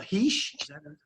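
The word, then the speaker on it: Lachish: kind of interesting it was on the the heesh okay pronunciation l-a-c-h-i-s-h was a battle in 701 and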